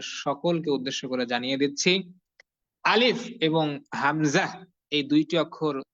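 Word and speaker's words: ألف: সবাই ধমকের স্বরে বলতে হবে হ্যাঁ ধমক দিয়ে আলিফ সবার শেষে কিন্তু প এর মত উচ্চারণ যাতে না হয় সবার শেষে কিন্তু ফ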